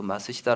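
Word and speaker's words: 松下: 이야기를 많이 하죠 어 마쓰시다 옛날 일본의 그 마쓰시다 라고 하는 기업이 있었어요 아무로 쓰면 소화 소나무 성 잘 알아야 짜서 마쓰시다 라고 읽어요 일본어로 이렇게 말 쓰시다 그 이 기업을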